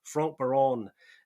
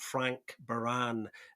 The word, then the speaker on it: Franck Baron: And you have to put a little bit of a French spin on the pronunciation to kind of get close to it. So, Franck Baron, not Frank Baran, as some people like to call them, and we nearly did.